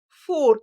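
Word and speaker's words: Fjord: This is Ford but it's F J O R D spelled like that.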